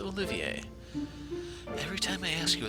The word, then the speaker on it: Olivier: in the Sky, I kept saying the name Olivier as Olivier. This is, like, it's a legitimate French name, it's just, since they never actually said how the prince's name is supposed to be pronounced, I wasn't sure what they were going for. But this is Olivier.